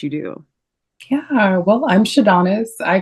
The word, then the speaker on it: Shadonis: switch gears and this episode we have astrologer sadonis that's how you pronounce it right yeah sadonis you so much for having me yes thank